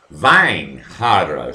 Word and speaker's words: Weinhardt: But it is pronounced V, Weinhardt.